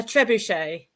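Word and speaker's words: trebuchet: How do you How do you pronounce it? A trebuche. Oh, trebuche. Oh, is it French? Yes, that's it. Yeah, you know, in my head it's a tra.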